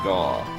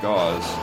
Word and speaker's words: Gau: now G says take jaw replace Jay with hard G so Gau I guess like the first half of the word Gau yeah pen says like